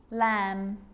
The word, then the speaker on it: lamb: It's always silent when it follows the letter M. Climb, crumb, lamb, thumb, dumb, and plumber. So practice them with me. I'm not pronouncing the B, I'm just pronouncing the M consonant sound.